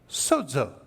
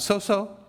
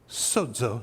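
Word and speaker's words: σῴζω: I will be sozo. Not so-so. I will be sozo is how you pronounce that.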